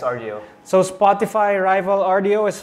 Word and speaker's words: Rdio: uh heads up guys uh how do you pronounce this Rio yeah it's Rio so Spotify rival Rio is finally available in